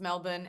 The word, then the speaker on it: Melbourne: it is pronounced Melbourne and uh Sydney and then I'm going to pop over to New Zealand where I did live for a month.